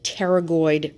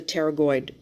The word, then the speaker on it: pterygoid: are the called the pterygoid processes pterygoid is spelled with a P but the P is silent so we have both a right and a left and there are different parts to the pterygoid process we have the